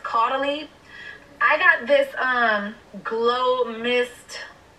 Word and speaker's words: Caudalie: The first thing I got is, I used to say Caudier, but I think it's pronounced Caudalie.